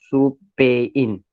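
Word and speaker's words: スペイン: Yes, soup, and Spain is pronounced as soupain in Japanese.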